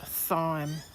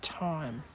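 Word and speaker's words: thyme: She's in a She's 20 now, but she still insists that this is pronounced thime. So, we all pronounce it th now. So, if you hear me say thime, I actually mean time.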